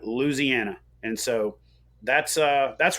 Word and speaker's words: Louisiana: uh and we that's Louisiana we just dropped a whole syllable right and you uh you just take out the Wii the Louie Ziana and you got Louisiana and so that's uh